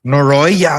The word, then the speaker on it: Noroi: Ooh, what did I see that I want to say, I'm going to mispronounce it. Norai, The Curse. Noroi, so good.